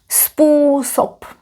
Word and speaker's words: způsob: Spusob pronounced with s and p. Spusob.